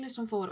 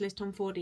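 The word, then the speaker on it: Tomforde: And then Liston Ford has also, sorry, I keep saying Liston Ford. I know her name now is pronounced Liz Tom Ford, but I've only realized this recently, so it's kind of set in my mind as Liz Tom Ford, but I need to say her name correctly.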